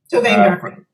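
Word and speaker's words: Tovaangar: Tovangar.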